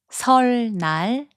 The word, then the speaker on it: 설날: 설날, which means Lunar New Year, is pronounced as 설날.